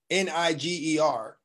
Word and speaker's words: Niger: These people that the Romans called N-I-G-E-R, they settled on a river. And the river was called N-I-G-E-R, right? They pronounce it Niger River.